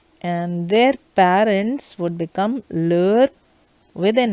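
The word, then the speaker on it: leurs: the same lure and for plural it is lure again but within s the pronunciation is the same but it ends with an s so if you want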